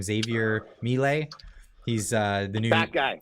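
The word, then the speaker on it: Milei: like Argentina with uh uh is how he pronounced his name Xavier Mele he's uh the new guy yeah he went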